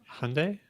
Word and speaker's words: Hyundai: you got it right Hyundai Sunday don't don't stop training yourself back you know right Sunday like Sunday like Sunday brilliant all right but I